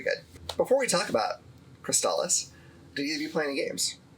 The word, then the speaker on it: Crystalis: But I think our consensus is it's Cristales.